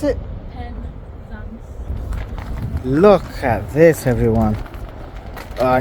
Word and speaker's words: Penzance: How do you pronounce it? Penzance.